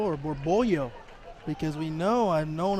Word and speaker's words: Borbollo: Yeah, I wonder, is it Borbolo or Borbollo? Because we know, I've known in my Spanish days that the double L is kind of pronounced as a Y, so I wonder.